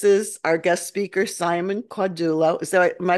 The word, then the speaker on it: Caudullo: I'm with Beacons of Balance, and this is our guest speaker, Simon Caudullo. Is that, am I pronouncing that right?